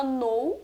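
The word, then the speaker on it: know: que não são pronunciadas então por exemplo eu tenho o verbo no que significa saber ou conhecer a gente fala no e o som de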